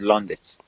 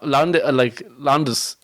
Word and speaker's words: Londis: I said, Londis becomes Londits. No, Londis is how people pronounce Londis in Dublin. Londis, like the D comes pronounced, not the. They don't add a TH.